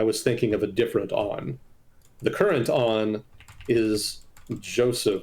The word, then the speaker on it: Aoun: And his name is not Aoun, it's pronounced On. So my mistake.